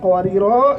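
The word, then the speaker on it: قواريرا: Kalau kita bacanya kanat qawarira, ini enggak ada tanwinnya ya. Dan cara bacanya itu adalah kalau kita berhenti kita panjangin.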